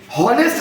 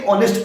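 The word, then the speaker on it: honest: इसको क्या पढ़ेंगे, क्या रीडिंग करेंगे बताइए? हॉनेस्ट नहीं बोलते हैं। कभी किसी को देखे हॉनेस्ट बोल रहे? क्या बाबू? तो ये हॉनेस्ट पढ़ोगे कि ऑनेस्ट पढ़ोगे? तो आपने एच को क्या कर दिया? साइलेंट। क्या कर दिया बताइए? साइलेंट।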